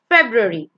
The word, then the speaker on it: February: The next one is not February, it's February. February. You gotta be a bit quick.